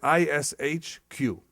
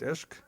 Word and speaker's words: ishq: is ishq i transliterated i s h q how do you say passion or you pronounce it esque you pronounce it esque okay some pronounce it ishq i guess depends uh if which part